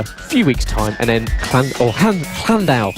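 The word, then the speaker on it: Llandow: We have Red Lodge in a few weeks' time, and then Llandau. Let's pronounce it in the Welsh. Llandau.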